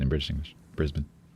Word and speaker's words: Brisbane: Brisbane. Brisbane. Remove all the vowels.